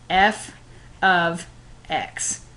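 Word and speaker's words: f(x): something like this and it is pronounced f of x because it is short for a function of X and so we have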